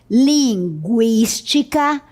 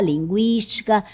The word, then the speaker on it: linguística: 50, linguística, consequência, frequência, tranquilo. Note que a pronúncia continua sendo a mesma, com o U.